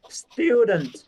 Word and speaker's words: student: Bởi vì hiện tại anh nghe thấy mình phát âm cái từ chữ T ở cuối nó cái T này nó quan trọng ấy, nó phát âm nó nhẹ nhưng mà cần phải có cái từ nó hơi bị kiểu như là nó gậy, nó bị đập một gậy vào nó ấy.